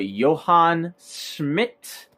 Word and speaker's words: Johann Schmidt: to a character by the name of a Johann Schmidt yes that is how you say it it